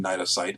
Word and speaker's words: cnidocyte: You'll notice that the C in cnidocyte is silent. It is a cnidocyte.